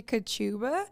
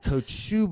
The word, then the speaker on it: Kociuba: Kociuba. Am I saying it right? Oh, I knew that's why you wanted to hesitate about my name. So it's actually interesting. It's actually Kociuba. Kociuba.